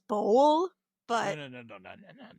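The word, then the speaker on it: Bowell: I entirely think that's because of the last name Bowel. Yeah, I think it's actually pronounced bowl, but No, no, no, no, no, no.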